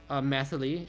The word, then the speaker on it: Mythily: Our main character, Mythily, that's how you pronounce it.